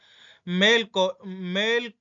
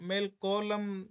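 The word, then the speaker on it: Malcolm: मेल को मेल मेल कॉम इसको पढ़ेंगे मेल कॉम। मेल कॉलम सही नहीं है, मेल कॉम, एल को साइलेंट।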